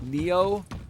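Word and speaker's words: Nioh: I think it's pronounced like Neo. N I O H Neo3.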